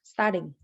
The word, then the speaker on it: starting: She doesn't pronounce the G in starting.